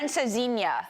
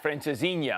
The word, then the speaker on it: Francesinha: Francesinha. Francesinha.